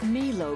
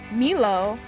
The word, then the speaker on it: Milo: I thought it was pronounced Milo. That... Milo? Oh, I've never heard it pronounced like that. What's up, Milovers? What's up, Milovers? Like my lovers. That would still be fine if it was Milo.